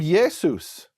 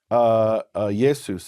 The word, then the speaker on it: Jesus: Because Greek names tended to end with a S, like Joseph becomes Josephus, and Yeshua becomes Jesus.